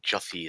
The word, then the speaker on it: Jussie: I thought everyone was naming him Jesse, and then I realized, oh, it's like Jussie. It's like you're saying Jesse, but with like the stereotypical gay lisp.